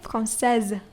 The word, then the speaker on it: française: You pronounce the S as Z. Z. Okay? Française, not française.